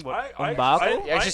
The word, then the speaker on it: M'Baku: I know I just said that wrong, but M'Baku?